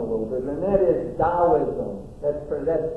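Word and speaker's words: Taoism: bit and that is daoism. That's that's spelled T A I SM. T AO and it's pronounced Daoism.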